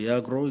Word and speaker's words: Yagro: Yagro. It's spelled Y-A-G-R-O.